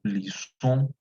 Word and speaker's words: lisons: pero en este caso esa letra S sí se va a marcar, sí se va a pronunciar, y luego viene la terminación de la conjugación. Nous lisons, vous lisez, il lisait, elle lisait.